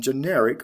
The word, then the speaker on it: generic: general and generic now both general and generic are adjectives in this case and the stress shifts from the first to the second syllable al to ic this is from an